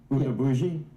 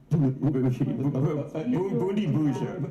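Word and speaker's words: Bundibugyo: Bundabuji? Bundi Buja. Okay. Yes, I mispronounced it.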